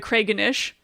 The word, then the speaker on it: Craggonish: Yeah, but you have to make it 3 syllables. Oh, you're so right. The Kraganish. The Kraganish. Okay, so Kraganish is spelled CRAGGONISH. The Kraganish, and it always has to have that really like nice musical quality, and it always has to be phonetically spelled. Yeah. So if you look at the word Craiganish, you can figure it out.